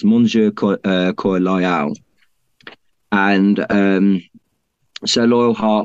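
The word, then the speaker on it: Mon cœur loyal: heart is um well Henry would actually say it in French um I forgive my bad pronunciation but it's moner cor loal and um so loyal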